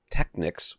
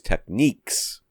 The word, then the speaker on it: Technics: So you heard it said out loud many times, and it was always Techniques. So we've been saying it wrong. I've been saying it wrong my whole life. Me too. Technics. Yeah. Techniques. I have heard it pronounced that way. That's not totally foreign to me or anything like that.